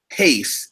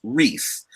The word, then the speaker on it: Reis: watching this it's not pace it's Reese in Brazil the R is pronounced as an H and so I'm conditioned